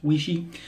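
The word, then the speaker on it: Weishi: up and use my we Shi razor I was told that that's actually how it's pronounced we she and this is the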